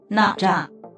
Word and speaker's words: Nezha: How do you pronounce that? Nezha.